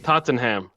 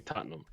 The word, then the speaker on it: Tottenham: Yeah, I'd like to see Wickham, but um it's like when people say uh Tottenham, it's supposed to be Tottenham. You're right. You're right. I've heard Tottenham enough. If I say it correctly, you're right.